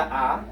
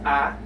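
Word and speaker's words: ㅏ: answer ah a sound or actually not a but ah it's like it sounds like the ah in the word apples okay when you are pronouncing the word Apple you you pronounce this ah and that's the ah in the Korean alphabet if we use that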